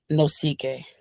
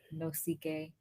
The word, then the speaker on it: Nosike: how do you say your last name no ck no ck that's awesome he's from nigeria guys that's amazing